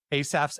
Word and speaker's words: Asaph: name on the rundown, Asaph's Arrows, I got nervous. It's like Aesop Rocky, and I'm saying it wrong. Am I saying it correctly? Asaph? Is that It's the Asaph, biblical pronunciation?